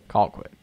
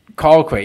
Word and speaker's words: Colquitt: Colquitt. Colquitt. Yeah, you gotta get those get that Georgia pronunciation wrong.